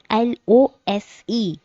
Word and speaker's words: lose: first one we have l o s e with z pro sound it's it is lose the it rhymes whose and news the second one is